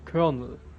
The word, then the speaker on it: colonel: Colonel, you would have to know it's Colonel. But where's the Colonel? Colonel. Where's the R? Is it like the opposite to those silent letters that are in the word but not spoken? This is a letter that is spoken but not written?